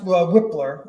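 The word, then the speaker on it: Wypler: about it well Luke I think it's pronounced whippler okay that sounds way cooler whippler it is and uh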